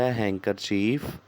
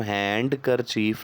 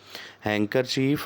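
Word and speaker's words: handkerchief: आएगी हम इसे पढेंगे और सॉरी इस वर्ड में डे लेटर साइलेंट है कि नहीं से हम हैंड कर चीज नहीं पढेंगे बल के एंकर चीज पढेंगे डी का लेटर साइलेंट है एंकर चीफ और इसका मीनिंग है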